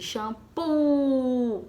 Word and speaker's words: shampoo: Shampoo. Qual é a sílaba tônica de shampoo? É o pu.